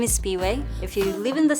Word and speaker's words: Siphiwe: hi my name is Speedway if you live in the states there's a gas station called Speedway that's how my name is pronounced without the D Speedway it may sound different